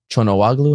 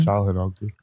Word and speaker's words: Çalhanoğlu: I think more moments of magic from Arda Güler and Chonowaglu. How do you say his name? Çalhanoğlu.